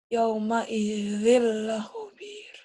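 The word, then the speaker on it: يَوْمَئِذٍ لَّخَبِيرٌ: Tanwinnya ketemu apa? Lam. Bunyi N-nya berubah apa jadi apa? L. L. Gimana coba? Yauma idzil la khobir.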